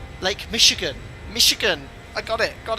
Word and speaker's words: Michigan: I don't want to say Lake Mitch again. Is that how it's pronounced? Or Michigan? Oh no. Minimums. Approaching minimums. It's sh, not ch. Lake Michigan.